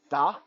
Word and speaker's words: Dha: It's spelled D-H-A, da, and some in some places it's spelled D-A-A-B and dub.